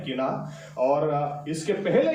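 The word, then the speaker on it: קנאת: यहां पर जो शब्द इस्तेमाल किया गया वो हिब्रू में शब्द है, एक्चुअली लिखते हैं किनात, QINAT, लेकिन बोलते हैं किना. ओके, उसका प्रोनाउंसिएशन ऐसा है.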